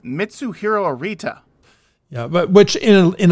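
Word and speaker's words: Mitsuhiro Arita: all he's King Pokemon but he can't even pronounce the name of the illustrator correctly it's mitsu hero arita yeah but which in in a lot of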